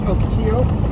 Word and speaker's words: Ocotillo: But it's Ocotillo. Is the proper pronunciation, I think.